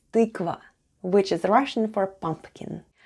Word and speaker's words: тыква: Let's spell the word tykva. The first sound is t, then we have y. Try saying e while pushing the tongue to the back of your mouth. Y. Then goes k, v, and a.